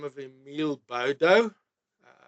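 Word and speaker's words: Baudot: Nou keyboard to keyboard there was a clever guy by the name of Emil Bodo. Uh some call it Bodot but the French never pronounced the T. So it's Bodo.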